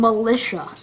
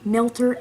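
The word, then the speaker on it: Millter: He pronounces my name Militia. He's not trying. He's on purposely mispronouncing it because it's kind of easy to say my name, Milter, M-I-L-L-T-E-R. Not that hard.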